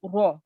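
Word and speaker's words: ر: can see here right whenever you pronounce it you have to round your mouth it's it's the thick letter right so raw so don't open your mouth round it and otherwise mashallah well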